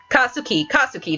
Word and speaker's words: Katsuki: He is that one guy in Boku no Hero, the asshole, Katsuki, that's how you say his name.